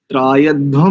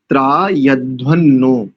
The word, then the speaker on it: त्रायध्वन्नो: और त्रायध्वम नहीं करेंगे, मैंने बताया तो था, त्रायध्वन्नो, वहां पर म नहीं करेंगे, अनुस्वार को नकार के कारण से ना ही उच्चारण करेंगे।